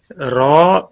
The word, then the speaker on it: ر: Raw pronounced as raw. Start by touching the edge of the tongue with the gum of first 3 upper front teeth.